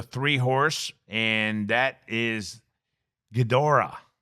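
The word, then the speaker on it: Ghidorah: We have the the three horse and that is Gdora. G H I D O R A H. Gora. Would you say that? Hedora. Maybe Hedora. Maybe that G is silent and becomes a Hedora.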